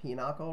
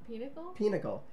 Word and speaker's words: pinochle: I've known the word, I've been saying pinochle wrong, and I'm going to continue to say it wrong. Apparently it's Pinnacle?